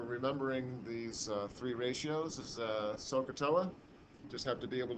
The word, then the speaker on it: SOHCAHTOA: So a mnemonic down the bottom for remembering these three ratios is SOHCAHTOA. Just have to be able to really pronounce it correctly, so that you really emphasize in the O part.